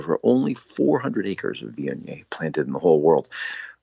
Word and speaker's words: Viognier: It's spelled V-I-O-G-N-I-E-R.